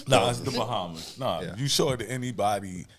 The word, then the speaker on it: Bahama: It's the Bahamas. You show it to anybody outside of, and only a select few people will actually know it's pronounced Bahama.